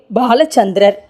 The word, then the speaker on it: பாலசந்திரன்: என்றும் சொல்லலாம் அடுத்த பெயர் பாலசந்திரர் உச்சரிப்பை கவனிக்க வேண்டும் பாலசந்திரா முதல் எழுத்து பால்லை இப்போது பாலசந்திரன் என்று என்ற